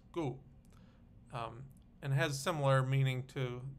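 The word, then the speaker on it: 告: I know this character also has the pronunciation of gao in Mandarin, but in classical Chinese, here it's pronounced gu.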